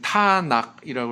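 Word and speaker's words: Tanakh: 부언을 하면 맨 마지막에 타낙이라고 그랬잖아요. 타낙이라고 이렇게 하는 명칭은 뭘 가리키냐면 토라의 T, 그 다음 느빔의 N, 케투빔의 K 이렇게 첫 글자를 따가지고 가운데 이제 아라고 하는 그 모음을 넣어서 타낙으로 발음하죠.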